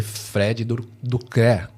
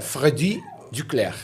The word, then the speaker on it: Freddy Duclerc: do francês né o o u em francês tem um som parecido com o i então fica i então